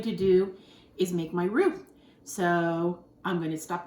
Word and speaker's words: roux: going to make the roux, which is the sauce. It's roux, R-O-U-X is how to spell it.